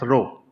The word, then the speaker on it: rho: The symbol which looks like P is pronounced as rho. It's a Greek letter.